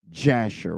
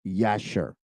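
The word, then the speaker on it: Yashar: book of yasher or some people call it jasher with a J but for the sake of correctiv I want to call it by its original name in the Hebrew which is yasher it is spelled y a s h a r y a s h a r yasher and I want to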